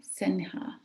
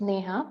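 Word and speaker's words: Sneha: unmute you okay doctor senha sorry it's so hard to pronounce names sometimes um yeah it's neha like snake i'm logging in from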